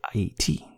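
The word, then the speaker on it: Ayiti: island of Haiti which Americans say Haiti but we say 80 that was the name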